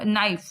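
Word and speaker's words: knife: जैसे हम लोग नाइफ नाइफ बोलते हैं, लेकिन क्या लिखते हैं, के लिखते हैं, ठीक है। तो के क्या हो जाता है, साइलेंट हो जाता है, ठीक है।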